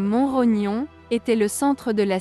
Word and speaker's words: Montrognon: début du XX siècle le château de montrog prononcé comme monrognon était le centre de